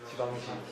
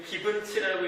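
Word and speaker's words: Givenchy: 지방시. 나 이거 처음 못 읽었거든요. 이 기분치라고 읽어야 되나 생각했는데 저는 이 상표의 옷이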